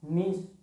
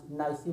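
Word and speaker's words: niece: अब grand child सबसे अलग क्यों है, देखिए अगर आप ध्यान से देखेंगे तो नीस, नीस मतलब होता है भतीजी। ठीक है, अपन कुछ लोग पढ़ने में, प्रोनाउंसिएट करने में नाइसी भी बोलते हैं।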